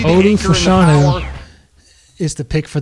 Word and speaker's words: Fashanu: So it's pronounced Fashanu. For all this time, I thought it was Olu Fashanu.